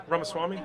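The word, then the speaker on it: Ramaswamy: thank you hello mr's uh Kirk and uh ramaswami right yeah yeah uh so WR pronunciation right there I appreciate that thank you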